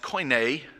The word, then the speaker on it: Koine: New Testament was written in Greek it is pronounced koine it's k-o-i-n-e coin a Greek which means common